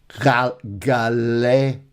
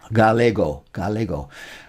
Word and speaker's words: galego: No, ga, that should be hard. Like gato and go. Jorge is my clue there. With an E, it's soft. Galego.